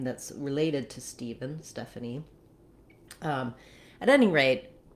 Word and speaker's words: Stephen: have what we have the ph says the sound so rewriting it with a v can help you letter e in this word the first letter e says that tense e sound so i've rewritten it here for you with two e's just like in the word need um etc so you can visualize that e sound and then we